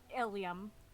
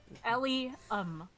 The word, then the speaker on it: Ilium: Ilium. I can spell it Like up. William, but without the W. But Yeah, more yeah. evil sounding. Yeah, yeah. Yeah. Old Bill. L-Y. Thank you. Sorry. Ilium.